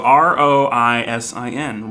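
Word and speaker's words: Róisín: that could be wrong yeah all right so r-o-i-s-i-n roisin it's kind of like a raisin but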